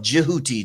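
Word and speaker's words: Djehuti: But the actual pronunciation of Jiuti, the D and the J.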